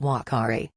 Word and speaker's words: uakari: color and location the name Akari is actually pronounced Whakaari with both this monkey's common name and its